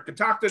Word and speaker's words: Catoctin: So you guys have been around, or Ka-TOCK-tin has been around for 11 years.